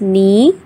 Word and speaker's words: knee: If K is silent, so how we pronounce knee, kneel, knelt, now, new, known, knowledge, etc.